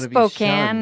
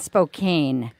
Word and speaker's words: Spokane: and I'm not going to say the other pronunciation because well Spokane and Spokane you know you hear people on the news